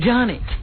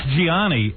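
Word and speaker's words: Gianni: You know, his name is spelled Giani, but they're saying it's Johnny. Yeah. Well, it's Giani. And yet all the newscasters are going Johnny Versace.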